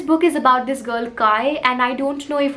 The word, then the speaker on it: Kya: Now this book is about this girl Kai, and I don't know if I'm pronouncing her name properly. The spelling is Kya, and I think I'm supposed to pronounce it as Kai.